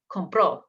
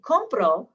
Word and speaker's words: compró: But if I say compró, then I'm putting the emphasis on the last syllable, and that means he, she, or you bought.